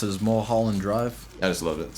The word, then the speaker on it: Mulholland Drive: Mulholland Drive. It's like saying Marlboro. It's how you pronounce it, is Mulholland Drive.